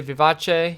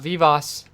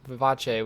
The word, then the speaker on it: vivace: one wheel and yes I did say Vivace because that would be how you pronounce the name of this it's not Vivas technically it's a musical term Vivace which means speed up